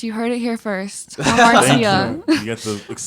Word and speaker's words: Hamartia: And in December, I released a 5-track EP called Hamartia. But Okay, yeah, that's how you pronounce it.